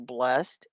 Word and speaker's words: blessed: Or the word blessed is the one syllable blessed, and you can say that both ways. Blessed. Now, blessed makes it a verb. Blessed is an adjective.